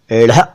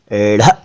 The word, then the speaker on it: ढ़: देखिए, ध्यान से सुनिए, इसको कहते हैं ढ़ ढ़ ढ़। ओके, इसे ढ न कहा करें।